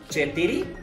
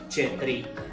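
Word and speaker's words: четири: 4, aquí aclaro, la manera en cómo se escribe se pronunciaría chetiri, la manera en la que se pronuncia normalmente es chetri. Repito, chetiri, chetri, chetiri, chetri. Chetri, les recomiendo, las personas lo van a entender sin ningún problema.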